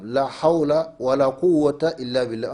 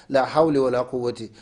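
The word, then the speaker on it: لا حول ولا قوة إلا بالله: Il faut bien prononcer, chers frères et sœurs, la hawla wa la quwwata illa billah. On ne dit pas la hawli wa la quwwati. Ça, c'est pas de la grammaire arabe.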